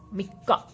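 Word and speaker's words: 三日: If you are writing these together, they would be pronounced as mikka.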